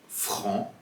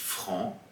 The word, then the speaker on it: franc: Dans le mot sourd ou encore franc, comme vous l'écoutez, on ne prononce pas le D et le C.